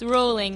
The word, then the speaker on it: Rowling: do you actually pronounce rolling it's rolling and she has said this it's not like a brow like an argument it's row like row a boat oh okay I think